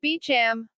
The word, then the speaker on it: Beauchamp: my name too Beauchamp my last name is pronounced Beacham but no one ever knows how to say it why am I going